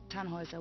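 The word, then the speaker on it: Tannhäuser: what's your name Tannhauser we pronounce it Tannhauser with an armload German roots yes my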